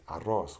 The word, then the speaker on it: arroz: When you pronounce the double R, you flap your tongue 2 to 3 times.